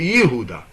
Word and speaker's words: Yehuda: So for example when we say we say Yehuda Yehuda Yehuda that's Judah right?